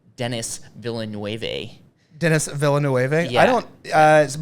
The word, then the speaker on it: Denis Villeneuve: Denis Villeneuve. You may know him by his American pronunciation, Denis Villeneuve.